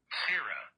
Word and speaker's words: sirrah: Now, you may notice there's also a British pronunciation with a slightly different vowel sound, Sarah.